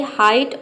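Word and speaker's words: height: मतलब होता है ऊंचाई हाइट में देखिए हम आई प्रोनाउंस कर रहे हैं एच का ह और ई आई जी एच का आई आई आ रहा है और टी का हो गया ट पूरा हो जाएगा हाइट स्लाइट में भी देखिए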